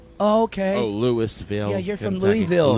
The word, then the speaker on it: Louisville: No, I say Louisville. Louisville. Louisville for me. That's how what I know say. he's from I Kentucky. say Yeah, you Louisville. got to say Louisville. Louisville. Louisville. It's spelled like Lulvul.